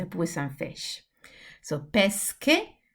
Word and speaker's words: pesche: So pesche, pesce. They look quite similar. This is a hard sound. This is a soft sound.